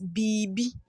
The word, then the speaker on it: biribi: we have here is biribi biribi that is how we write it by in pronunciation we we pronounce it as BB we omit the r b b in English